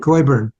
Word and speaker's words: Coyburn: It's like boy, goy, burn. Coyburn.